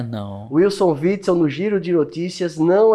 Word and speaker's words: Witzel: E a gente tava falando muito sobre aquele que o nosso amigo Ricardo Corrêa Como é o não nome consegue dele, pronunciar o nome. Witzel.